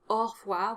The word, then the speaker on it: au revoir: It's pronounced au revoir, which means that AU is an opened O sound, which is very unusual. Normally AU is pronounced O. So this is an exception, and honestly I can't think of another one. Definitely drop the E sound after the R, so au revoir.